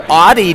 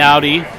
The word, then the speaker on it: Audi: Audi, also known as Audi. Audi, let's say it. That's how you pronounce it in Ohio. But hey, the German execs were all in town, so it's Audi.